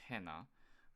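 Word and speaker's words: ένα: In ancient Greek, this would be pronounced hena, but in modern Greek, it'd be ena.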